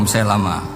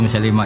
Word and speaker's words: Musailamah: Nah, umumnya orang-orang menyebutnya Musailamah. Namun jika seseorang membacanya sebagai Musailimah, tidak apa-apa, karena memang tidak jelas.